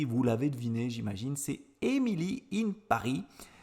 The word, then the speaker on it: Emily in Paris: l'avez deviné j'imagine c'est emilie in paris je le prononce à la française prononcé à l'anglais l'américaine